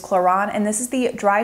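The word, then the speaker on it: Klorane: I picked out is the chlon which I was mispronouncing that in my last video it is choron and this is the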